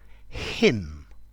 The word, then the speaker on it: hymn: Hymn, a countable noun. So it sounds like him, her. So the N is silent.